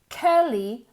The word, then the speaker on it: curly: She has short, curly, blonde hair. She has short, curly, cur. Se escribe con una U, pero se pronuncia como si fuera como una E.